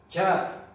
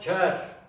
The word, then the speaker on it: ker: Örneğin ker diye söylediğimiz zaman ker eşek anlamına gelir. Dediğimizde bu ağzımızdan ker olarak çıkar ağzımızdan. Yazılışı kerdir ama bunu boğazdan H harfi ekleyerek telaffuz ederiz.